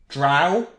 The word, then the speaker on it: drow: solve it right now drow rhymes with cow what else with it